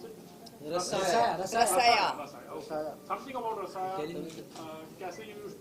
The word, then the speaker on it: Rasaya: Something about रसाया, how do you pronounce it? Rasaya.